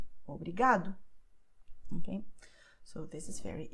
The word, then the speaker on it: obrigado: have these endings, and therefore they will be stressed in the second to last syllable, like obrigada, tarde, obrigado.